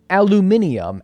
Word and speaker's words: aluminium: it the British way it's because you spelled it the British way we don't spell it that way though we don't spell it that way we take out an i you you you spell it differently so we say it like how we spell it you say it like how you spell it so we can't really get mad at each other for that one because that's just how we say it aluminum how do we